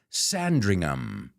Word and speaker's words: Sandringham: would say Tottenham but that ham is um Sandringham she was the fourth of five kids and